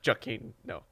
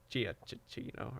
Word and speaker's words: Giacchino: oh yeah, because like it started with like just pronouncing it as it is, Giacchino. And then we heard, always hard with we heard it in an interview that it just had 2 syllables, and we're like, oh, or not 2 syllables, but like less syllables. Yeah, so less syllables, that it's just Giacchino instead of Giacchino, or whatever we pronounce it first.